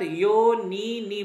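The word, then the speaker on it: যোনীনি: এতত যোনিনি ভূতানি, দেখুন যোনিনির একটা দীর্ঘই একটা হ্রস্বই, একটা দীর্ঘ উচ্চারণ যোনিনি, একটা দীর্ঘই দীর্ঘ উচ্চারণ হবে একটা হ্রস্ব উচ্চারণ হবে।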